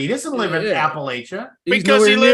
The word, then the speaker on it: Appalachia: That's how they No, pronounce it's it. Appalachia. No, it's pronounced Appalachia. I spent I'm a lot of pretty sure. time. I don't think you're right on this one. I've heard it both ways.